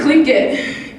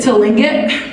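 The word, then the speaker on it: Tlingit: clink it but um as a Fort Lewis professors pronounce it to link it correct way to do that apparently so like they got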